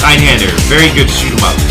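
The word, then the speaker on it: Einhänder: Eigenhans. Oh, I know Eigenhans. No, it's not that one. Wait, which game? Spell it correctly.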